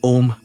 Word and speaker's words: Om: Its pronunciation a U m engages your entire vocal apparatus from the back of the throat to the closed lips, creating a vibrant resonance throughout your skull and body.